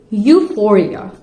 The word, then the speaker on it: euphoria: And the next one is euphoria. Euphoria. E is silent over there.